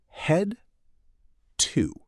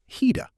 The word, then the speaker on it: head to: Let me say it slowly for you, then fast. Slow. Head to. Fast. Hida. The consonant sound at the end links right into the preposition. Train your ears to listen for these smooth sound blocks instead of searching for isolated words.